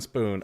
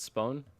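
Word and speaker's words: Spohn: now as as Steven spoon I think his last name is spoon forgive me if I'm mispronouncing that it's I think it's spawn spawn spawn SPO HN okay I I'm just not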